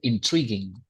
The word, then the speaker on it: intriguing: Once again, intriguing. Intriguing. Okay, I will show you. Intrigue, Yeah. intriguing. A lot of people pronounce this word like intriguing, right? Right. Which is not correct.